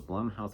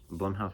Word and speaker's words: Blumhouse: But I actually used to pronounce it Blumhouse, but then I realized that it was actually pronounced Blumhouse.